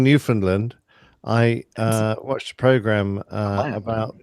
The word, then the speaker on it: Newfoundland: I've always been saying Newfoundland.